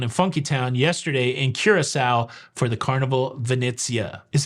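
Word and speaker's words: Curaçao: Of course, it's a ship, not a boat, and it's not Curacao, even though it's spelled like that. It's Curacao.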